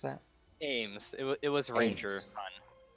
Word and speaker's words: Amez: How do you pronounce that? Ames.